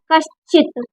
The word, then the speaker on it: कश्चित: कुछ छोटे छोटे जैसे क चित ये आधा है आधा श है तो इसका अर्ध उच्चारण करना है कश्चित इ की मात्रा का